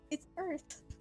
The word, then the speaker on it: Oerth: It's Earth. It is pronounced Earth, isn't it, Ronnie?